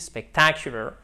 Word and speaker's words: spectacular: Faites bien l'accent tonique ici, spectacular, amazing, awesome, fabulous.